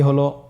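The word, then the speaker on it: ه: আপনারা আমার সাথে বলুন হাফটি উচ্চারণের স্থান কন্ঠনালীর শুরু হতে অথবা আমরা যদি আরবিতে বলি হলকের শুরু হতে এটা এই হরফটি উচ্চারিত হয়।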